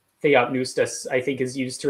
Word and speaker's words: Theopneustos: Theonustos is actually, I don't think the P is pronounced because it's PN, so then it would just be the N.